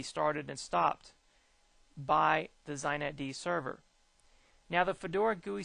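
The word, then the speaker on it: xinetd: use on Linux today zet D is that's how they pronounce this with an x xet d or zet D is prom predominantly used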